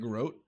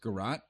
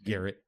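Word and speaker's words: garrote: Isn't that Grot? Garat. It's pronounced Gat even though it's spelled G A R R O T E.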